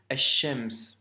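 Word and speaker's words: الشمس: Et donc, par conséquent, ici, ça se lit ash-shams. Tu vois? Le alif lem s'écrit, mais par contre nous faisons la liaison car il y a une shedda.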